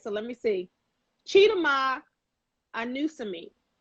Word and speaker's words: Chidima Anusiem: Chidima Anusiem. Anusiem. And I did know that. I said that right the first time.